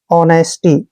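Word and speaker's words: honesty: देखिए इसमें क्या है जब भी एच के बाद ओ आता है तो एच वहां पर साइलेंट हो जाता है इसलिए हमने एच को रीड नहीं करना है ओ को रीड करना है ओ ओ को हम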